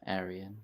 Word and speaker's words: Arian: That's normally But pronounced Arian rather than Arian, Arian. yeah.